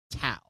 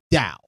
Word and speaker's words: Tao: Only thing I didn't like about the movie is the way they keep saying tao. Yes. Despite it being spelled with a t, it's t ao. It's actually pronounced dao.